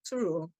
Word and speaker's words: Thoreau: É difícil eu não mencioná-lo em uma fala minha, mas o Alden, A Vida nos Bosques, Thoreau, como quiserem, né? As duas pronúncias são válidas.